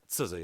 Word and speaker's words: SZA: SZA is how you say that? SZA, yeah, SZA, okay.